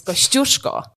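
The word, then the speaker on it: Kosciuszko: pronounce yes so the Kosco and theki see I didn't even get it right so we always have fun about how Australians pronounce those names kushko is the proper pronunciation of the Kosco Mountain and staly was the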